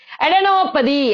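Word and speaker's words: adenopathy: அடெனோபதி.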